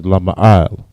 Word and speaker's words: lama'al: Word up in the Hebrew is lama'al. Lama'al. La, ma, I, and la. The I and la are connected. Lama'al. All right.